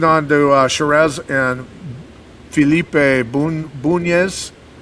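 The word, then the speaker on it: Bunes: Okay, I've been calling him Burns the entire time. Okay. Felipe Bunez. That's my bad. I apologize. Felipe Bunez.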